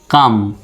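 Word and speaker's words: calm: উচ্চারণটা হবে না তাহলে সি এ এল এম উচ্চারণটা হবে শুধু কাম সি তে ক এ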